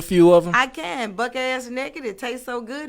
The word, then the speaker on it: Buck Azz: Buck ass naked. It tastes so good it make you get out your clothes. Yeah. And it's spelled Buck AZZ. Buck ass had to make it, Yeah.